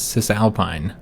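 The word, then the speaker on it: Cisalpine: do this one so in english we typically pronounce this as cis alpine it's just alpine gaul uh i think in latin it'd be like sisal pine or something like that or sea salpina uh gull i could be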